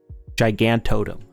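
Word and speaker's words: Gigantotem: we also have the new giganta totem or giant yeah or gigantodom that's that's how you say it uh just very powerful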